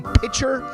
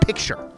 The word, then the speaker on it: picture: I don't like it when people say pitcher instead of picture. That's a real big pet peeve of mine. Like, that's a huge pet peeve. So you don't know, you can't pronounce the word picture and instead you have to say pitcher.